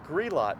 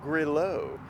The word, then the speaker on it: Grilot: You've got Schillinger, you've got Grilot, not Grillo, as Siri might pronounce it.